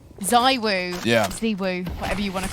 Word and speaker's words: ZywOo: Zywoo, whatever you want to call him.